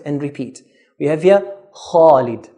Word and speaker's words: Khalid: We have here, Khalid. Please note, we pronounce the kha in a heavy manner. Khalid, not Khalid. Do not pronounce it lightly because it's a heavy letter.